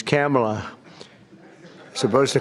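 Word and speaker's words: Kamla: It's a little different. It's Cam, right? Cam as opposed to Com.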